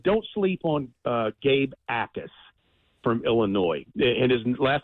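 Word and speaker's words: Jacas: Oh, and don't sleep on uh Gabe Ais from Illinois. And his last name's pronounced uh is Jac. The J is silent, but Gabe Ais from Illinois.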